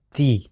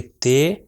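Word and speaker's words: تِ: اس کے نیچے اگر کسرہ آ جائے تو یہ ہو جائے گا تی. اگر اس کو کہیں گے تے تو یہ غلط ہو جائے گا، اس کا تلفظ ہے تی.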